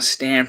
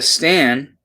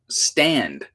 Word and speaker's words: stan: Not that she knew that a stan, a portmanteau of stalker and fan, actually was, which explains why she pronounced it stand.